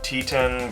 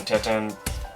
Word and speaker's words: Teton: Now I hear some people pronounce it Grand Teton, Grand Tetan, doesn't really matter, right?